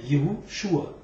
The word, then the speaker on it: Yahushua: Donc c'est bien Yahushua, pas c'est écrit Y-A, mais ça se prononce Yé, parce qu'en anglais, plutôt en hébreu, le Yé c'est le masculin, donc on dit Yahushua.